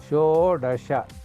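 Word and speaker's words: षोडश: Now, you see this 6 earlier was just like Shat. Here it is Shodasha. Shoda. The Dasha will become, after combining, becomes like Shodasha. It is easy to pronounce, that is how they have prepared.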